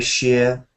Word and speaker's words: shire: the end like darber Shear Cambridge Shear it's sheer just like a sheer drop but here it's um